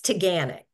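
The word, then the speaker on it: Taughannock: waterfall Don't Panic it's tanic okay Don't Panic it's tanic got it everybody hear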